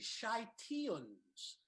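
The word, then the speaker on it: Scythians: c y th i a and s it's pronounced the shite Ian's the shite Ian's alright so here ancient tribes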